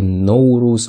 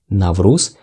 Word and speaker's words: Navruz: Various countries pronounce Navruz differently. They say Nowruz or Nowruz, etc. We say Navruz, and different countries celebrate Navruz differently.